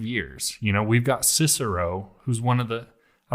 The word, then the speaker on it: Cicero: of course it's right he said his name was Kiki at all or something oh wow okay that's how the the Latin was pronounced at that point but